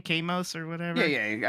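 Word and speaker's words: KOS-MOS: Kamos or whatever? Yeah. I think Cosmos is how you pronounce it, Cosmos, probably.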